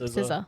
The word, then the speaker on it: SZA: But, I think it's going to be The Weeknd and How do you say SZA or is it SZA, yep, SZA.